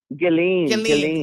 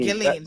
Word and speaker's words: Ghislaine: How does she pronounce the first name? Ghislaine. Ghislaine.